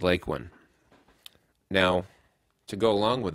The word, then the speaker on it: Lakeland: and hearing them talk you most often hear the pronunciation of Lake one you don't hear it any other way and if you do I started to notice a pattern where the people who were there in the beginning of the town were the ones who were pronouncing it correctly pronouncing it as lake one the people that were